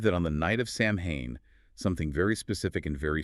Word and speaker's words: Samhain: So we have this festival, Samhain, S-A-H-win, happening in ancient Ireland and Scotland.